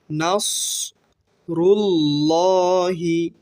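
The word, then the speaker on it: نصر الله: নাস রুল্লাহি আল্লাহ শব্দের খারা জবরের ডান পাশে যদি জবর অথবা পেশ থাকে তাহলে এখানে ল অর্থাৎ মোটা করে পড়তে হবে নাসরুল্লাহি ওয়ালফাত ফাত বলার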